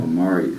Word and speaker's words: Amarius: Is it Amaris? Is that how you say it correctly? Amarius. Amarius. Yeah.